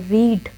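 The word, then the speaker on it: read: रीड की second form और third form की स्पेलिंग सेम है, बट बोलेंगे आप कैसे, रीड, रेड, रेड। पहली फॉर्म को क्या कहेंगे, रीड, और दूसरी तीसरी फॉर्म को क्या कहेंगे, रेड, रेड, ठीक है। रीड, रीड नहीं कहेंगे, कहेंगे रीड, रेड, रेड।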